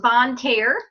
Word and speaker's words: Bonne Terre: and it is pronounced Bonne Terre Missouri it is a French town it's it stands for